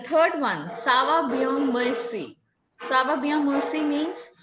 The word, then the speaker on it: merci: It said like merci, merci, like that.